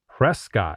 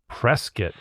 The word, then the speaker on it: Prescott: Prescott is not Prescott, but it's Prescott. I was told like biscuit.